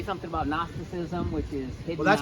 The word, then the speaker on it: Gnosticism: So Gnosticism is spelled with a letter you would never find if you were looking it up phonetically. You'd be looking for N-O-S.